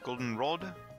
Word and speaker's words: Goldenrod: have arrived at goldenrod at goldenrod the accent is on the air goldenrod I guess alright well